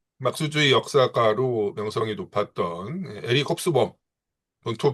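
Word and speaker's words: Hobsbawm: 근데 그 영국의 이제 그 막수주의 역사가로 명성이 높았던 에릭 홉스범, 본토 발음으로는 에릭 홉스바움이라고 읽어야 된다고 하는데, 예.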